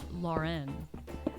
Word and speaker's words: Lauren: lauren people say ralph lauren and like it's never pronounced it's like not pronounced that way it's like pronounced like the normal last name lauren but like people